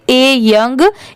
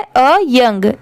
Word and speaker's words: a: इसे आप ऐसे नहीं पढ़ेंगे ए यंग, इसे ऐसे पढ़ना है अ यंग।